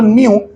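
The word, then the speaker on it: ν: frequency को या तो न्य देखो न्यू ये इसकी स्पेलिंग है एन यू न्यू और पढ़ते हैं न्यू की तरह एनई डब् न्यू की तरह पढ़ते हैं ठीक है तो यह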